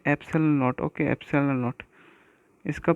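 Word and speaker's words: epsilon: Okay, एप्सिलॉन नॉट। इसका pronunciation आप इस प्रकार है APSALON, एप्सिलॉन नॉट।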